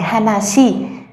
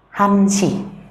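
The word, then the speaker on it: 한 시: Vậy nếu như ai nói Hana Si là sai, các bạn sẽ phải nói là Han Si.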